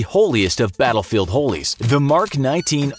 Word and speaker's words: Mk-19: That path would eventually lead to the holiest of battlefield holies: the Mk-19 (narrator note: pronounced “mark”) automatic grenade launcher.